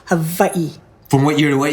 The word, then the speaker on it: Hawaii: lived in Hawaii for actually Hawaii is pronounced Hai from what year to